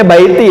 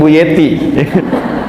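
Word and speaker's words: بيتي: Ya, bacanya baiti ya, bukan Bu Yeti.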